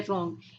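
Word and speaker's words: wrong: है के साइलेंट है, इसमें रॉन्ग, इसमें क्या है डब्ल्यू साइलेंट है, इसमें डाउट, डाउट में क्या है डी साइलेंट है, ओके।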